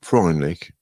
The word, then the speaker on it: Freundlich: Edmund Freundlich, according to records of the U.S. Immigration and Naturalization Service, was born in Vienna on April 14, 1999. The family name means friendly in German and is pronounced freundlich.